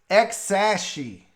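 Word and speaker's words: X Æ A-Xii: you pronounce it is that little a and E combined together is pronounced ash so this is X a she bro you got all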